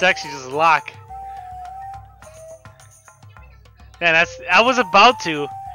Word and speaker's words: Locke: It's actually pronounced Locke. I don't know why. It's old habit from when I was used to play it when I first played the game. I called him Loke, but it's actually just Locke.